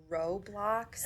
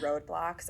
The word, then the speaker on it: Roblox: I always pronounce this wrong and they get so mad at me. But Roblox, I call it roadblocks all the time. And they're like, Mom, that's not it. Every time.